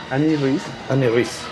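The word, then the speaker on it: Anne Rice: Autora, ¿cómo se pronuncia? Annie Rice.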